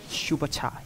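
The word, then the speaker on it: Schuberta: Not Subatra, let me have to pronounce the name again. Shubata, yes, Shubata.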